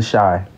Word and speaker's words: Chi: It's pronounced the shy. Like, shy. Like, you shy. S-H-Y. But it's Chicago. Shy.